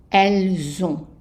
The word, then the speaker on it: elles ont: So this one also will have the liaison, which means that you will pronounce elles ont, elles ont.